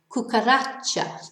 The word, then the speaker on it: cucaracha: the whole world cockroach Cucaracha so this has a natural stress on the last but one syllable yeah I should really